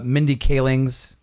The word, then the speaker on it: Mindy Kaling's: for the uh and I'm probably going to mispronounce this uh Mindy kaling's no you you got it you got it